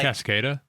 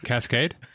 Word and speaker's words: Cascada: We Touch song say Cascada yeah that's who it is Cascade no it's not Cascade Cascada yeah there's I've never